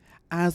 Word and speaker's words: Az: Az was a good judge of character. He brought a lot of... Az has some really good real estate. His name is pronounced separately AZ.